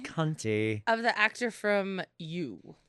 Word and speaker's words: Conti: He It's reminded me pronounced cunty.